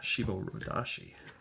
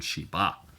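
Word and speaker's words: shiboridashi: up the pronunciation, and it's shibo. I was saying shiba.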